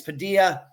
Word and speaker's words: Padilla: And I know some people in the past, Ed, it's Padilla. I'm just going by what Tim Wright said in the interview. He's the one that has spoken to Ben's family, and that's how he pronounces the last name.